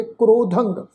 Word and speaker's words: क्रोधंग: क्रोधं कक्के दे पैर विच रारा, उत्ते होड़े की मात्रा, धद्दे उत्ते टिप्पी की मात्रा, नास की उच्चारण करांगे क्रोधंग।